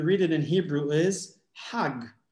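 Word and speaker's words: חג: But they pronounce the G as J. And now if you read it in Hebrew is Hag, right?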